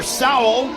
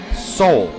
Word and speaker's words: Sowell: few years ago, and he pronounced his last name Sowell. So I think maybe it's actually Sowell. Might be his little bro. Soul. S-O-W-E-L-L. Soul. It's all about soul. Not Sowell. Soul. Not Sowell either.